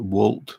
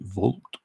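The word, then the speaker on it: Wolt: um a little uh well i call it walt it's spelt w-o-l-t but the danes pronounce it volt and you see a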